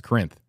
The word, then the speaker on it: Corinth: Porter's Corners near a town that I can't pronounce. Corinth? Yeah, it's Corinth.